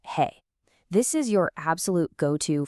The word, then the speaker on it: 和: Our second key character is wa, pronounced he.